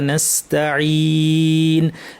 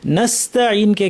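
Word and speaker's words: نستعين: কিন্তু তারপরেও দেখা যায় আমরা বাঙালিরা যখন আমরা বাংলা ভাষাভাষীর উচ্চারণ করি তখন এটা নস্তাঈন এরকম একটা ভারী আওয়াজ হয়ে যায়। হ্যাঁ, ভারী হবে না, এখানে সদের মতো আওয়াজ শোনা যায়, সদ হবে না, সিন।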